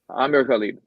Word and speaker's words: Amer Ghalib: How does he pronounce his name? It's Amer Ghalib. Amer Ghalib.